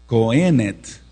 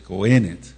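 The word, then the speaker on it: cohenet: pierde su condición de cenet c o h e acento en esa e en la pronunciación de la fonética hebrea n e t c o h e n e t acento en la primera e pierde su condición de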